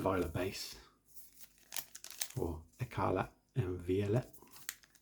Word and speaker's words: Violet: Okay, Scarlet and Violet base, or Écarlate and Violet. Violet. Don't pronounce many T's in France, so there's a code.